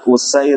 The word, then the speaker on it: Usair: Jadi hamzahnya di dommah sehingga pengucapannya adalah u ya wa fathisinil muhmalah dan sinnya di fathah serta sinnya tidak bertitik.